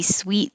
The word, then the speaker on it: suite: sweet it could be sweet like a apartment or hotel suite or sweet like candy it's the same sound sweet and 16 is